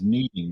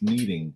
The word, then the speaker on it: kneading: yes please forgive me the pronunciation is needing the K is silent the K is silent the K is silent it's needing what's K what's the